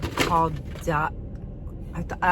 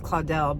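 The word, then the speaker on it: Caudalie: And I had been hearing a lot of good stuff of the Caudal. I always thought it was Claudel, but it's the Caudali.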